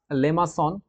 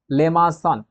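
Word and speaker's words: limaçon: সেটার নাম হচ্ছে কনভেক্স লেমা উচ্চারণটা হবে লেমাস সন লিমা যদি আমি কখনো বলে থাকি সেটা আসলে সঠিক না উচ্চারণটা এরকম হবে লে মা সন এরপর ওকে এটাকে বলা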